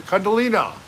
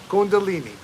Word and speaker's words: kundalini: vibes the karma namaste kundalina kundalini kundalini i said it wrong right now i just said it right kundalini kundalini it goes down